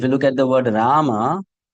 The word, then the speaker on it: Rama: If you look at the word rama again, it has two syllables. Ra ma.